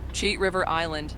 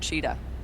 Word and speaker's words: Cheat River Island: Cheat River Island, not Cheetah.